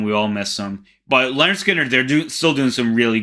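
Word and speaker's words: Lynyrd Skynyrd: them everyone loves them leonard skinner pronounced leonard skinner this had to be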